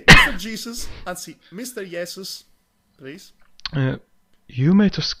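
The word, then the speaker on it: Jeesus: Finish Jesus finish Jesus is how is Jesus pronounced in Finnish by the way yesus okay you'll be yesus then okay I I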